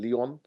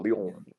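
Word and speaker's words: Lyon: our first two games in Leon or Leon or how the French pronounce it and last in Marill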